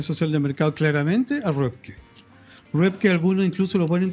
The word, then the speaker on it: Röpke: de mercado, claramente a Röpke. Röpke, algunos incluso lo ponen como sociólogo. Que se escribe R-O-P-K-E. Claro, con dos puntitos en la...